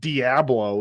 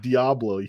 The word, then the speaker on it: Diablo: It's not Diablo. It's Diablo.